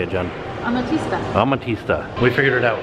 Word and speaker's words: Amatista: name right how do you say it Jen a matista amatista we figured it out it is a